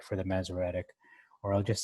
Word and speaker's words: Masoretic: empty is the masoretic so mesoretic okay it's four syllables i'll just say the